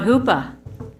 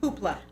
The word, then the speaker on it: Hoopla: I learned about Hoopa. Am I saying it right? Hoopla.